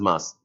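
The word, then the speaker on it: Meuse: River mass or river you write as musi pronounced as mass of Belgian the coal fields this is island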